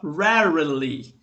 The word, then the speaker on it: rarely: E esse raramente em inglês é legal porque ele tem ali o R enroladinho, né? Que pra mim, por exemplo, não é comum, 2 vezes. Então é uma pronunciazinha mais complicadinha que a gente fala rarely. Rarely.